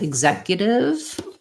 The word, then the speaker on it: executive: people need help with it has second syllable stress the letters ex say the x sound in this word exact uh actually not the x but the x is voiced so um stress is before the z of zach and then